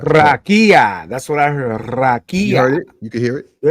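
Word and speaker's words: רקיע: actually say it for you so you can pronounce it right. Strong's H 7549. Say it out loud. Rakia.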